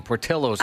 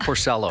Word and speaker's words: Portillo's: Thank you, Portillo's, not Porcello's. I thought maybe I was saying it wrong my whole life.